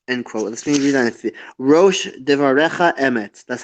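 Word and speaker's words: ראש דברך אמת: Rosh devarecha emet.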